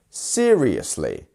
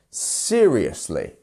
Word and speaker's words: seriously: um seriously seriously seriously four syllables which one is our stress syllable here well I'm sure by now you can see the punctuation around them and it's the first one seriously seriously first syllable stressed next one we have